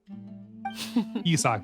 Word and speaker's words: Isak: Isak, that's how you say it.